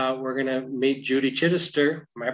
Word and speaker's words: Chidester: And today we're going to meet Judy Chidester. Am I pronouncing it right?